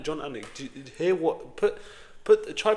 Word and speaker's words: Anik: John Anik. John Anik.